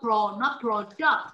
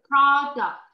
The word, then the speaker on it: product: No, not product. Miss Tom, this is product. Product. Yes, okay. The first syllable, nó nhấn vào âm thứ nhất.